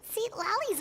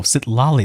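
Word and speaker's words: Citlali: Was that Seat Lolly's voice? Oh, Sit Lolly. That's how you pronounce the voice.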